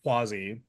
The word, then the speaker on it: Cuozzi: Tommy Quasi. I, you know, I worked on pronouncing his last name and hopefully I didn't screw that up too bad uh for this one.